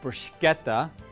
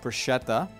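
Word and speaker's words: bruschetta: brushetta and a Christini a brushetta and it's pronounced brushetta not Bretta but that's okay brushetta in Italian means to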